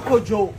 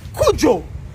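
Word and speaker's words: Cudjoe: o e e so let me give you the actual pronunciation of your name it's not kojo tell me it's kuoo that's what my dad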